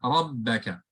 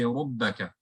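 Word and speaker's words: رَبَّكَ: Whereas this other example here, rabbaka, there is a fatha, rabbaka. And of course, be very careful when you're pronouncing this word. You don't round your mouth and say rubbaka, right?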